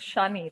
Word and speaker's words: Chanel: Okay, Chanel. The pronunciation is Chanel, okay?